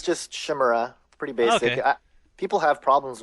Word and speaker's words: Shimura: said it before yeah it's yeah it's just Shima pretty basic people have problems with that I